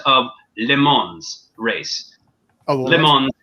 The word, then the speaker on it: Le Mans: Oh, Le Mans is pun intended. It is spelled like lemons.